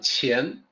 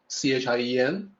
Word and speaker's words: Qian: The pronunciation in pinyin, Qian, it's supposed to sound like Qian, Chien, but it's written that way, which can throw people off.